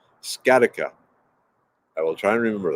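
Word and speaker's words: sciatica: with ted willicki see if that helps ah scarica thank you i love this because people know how to pronounce words i do not scattica i will try and remember that yeah okay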